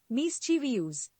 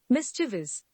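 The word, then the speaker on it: mischievous: menu menu now we have you मे be pronounce it मिस चवी यूज what it actually is मिसचिवस मिसचिवस the next word is यू मे बी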